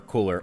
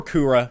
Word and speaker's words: Cooler: So, without any further ado, let's hop in and let's talk about this brand new TUR cooler, or Kura, depending on how you guys want to say his name.